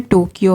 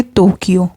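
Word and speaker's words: 東京: लोग राजधानी जो है टोक्यो है लेकिन जब हम उच्चारण करेंगे इसका जापानी भाषा से तो हम बोलेंगे तोक्यो टोक्यो नहीं बोलेंगे टोक्यो बोलेंगे ट का ध्वनि नहीं होता त का ध्वनि होता है तो टोक्यो उसके बाद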